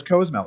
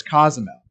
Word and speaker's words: Cozumel: he's going to cozumel where the hell is cozmo it's cozumel i've never heard anyone